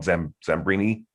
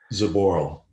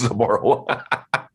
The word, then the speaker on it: Zaboral: Zambrini? Zaboral. I was close, Zaboral.